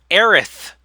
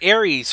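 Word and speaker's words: Aerith: oh I was called a Mako or or Erath you called her Ares forever there was a localization difference sure my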